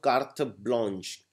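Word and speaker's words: carte blanche: they these countries are experiencing Keta next is K blanch K blanch it's pronounced K blanch K basically means card but here it means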